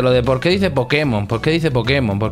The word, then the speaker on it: Pokémon: de Por qué dice Pokémon Por qué dice Pokémon Por qué le pone la sabes por qué digo Pokémon acentuado en la e esto a lo mejor